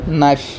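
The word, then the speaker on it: knife: example দিছে তোমাকে নি নো আর ওটা হছে নাইফ বুঝি পাইছে তোমাকে আজ পরে কে লেটার তো কে লেটার উচ্চারণ করি বলে কি তোমাকে বল হয় ভিডিও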